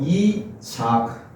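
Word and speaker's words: יצחק: 원래 발음이 이삭이 아니거든요. 원래 발음은 차크로 됐습니다. 차크. 웃음이란 말입니다. 그래서 그 접두어 이자가 붙어가지고 이차크.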